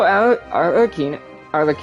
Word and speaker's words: Arlecchino: Also, Arlecchino is how you say her name.